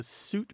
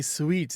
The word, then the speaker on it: suite: the other thing is the sweet pronunciation is kind of marked as fancy it's frenchified so if you want to see if you want to seem a little sophisticated you might say sweet and to show that